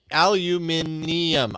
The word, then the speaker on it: aluminium: Aluminium. Ium, like chromium, but aluminium. Aluminium. Oh, yeah. This is aluminum.